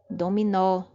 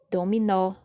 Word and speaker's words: dominó: Dominó. Dominó. Perceba que a última sílaba é pronunciada com mais força.